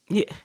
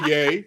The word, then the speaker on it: Ye: We here in media need to make a push to start pronouncing it Ye. Yeah. Let's not give him what he wants. No, yay. It's Ye.